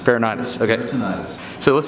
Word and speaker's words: peritonitis: Peritonitis. Peritonitis.